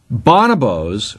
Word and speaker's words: bonobos: Bonobos, or bonobos, you can pronounce it either way.